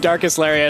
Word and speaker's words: Darkest Lariat: That's been a move that I don't know how to pronounce. It is indeed Darkest Lariat.